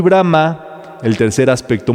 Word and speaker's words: Brahma: Brahman quiere decir el absoluto y Brahma el tercer aspecto. Muy importante aquí el acento en la última A para reconocer a Brahma.